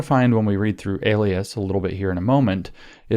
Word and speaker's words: Elias: up let me say his name again Maurice Alias e l i a s and you should